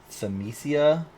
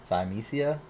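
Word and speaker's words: Thymesia: name of this game semesia t-h-y-m-e-s-i-a thiamesia i don't know if i'm pronouncing that right but yeah you look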